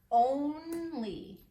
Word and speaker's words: only: Only. We would think it would say ah with a O, saying a short sound, but it says long O. It's an open syllable. Long only.